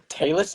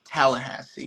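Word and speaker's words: Tallassee: I don't actually know how but that appears to be the pronunciation for it. Tallasee? Also, I had to specify it was not Tallahassee, that it is regularly mistaken, which I can see,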